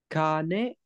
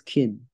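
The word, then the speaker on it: 金: Ehe wa kane no buchi no kapu o niranda. I don't think it's kane, Moni. I think it's kin. It is keen, you're correct. It is not kane, because kane would mean Kin money.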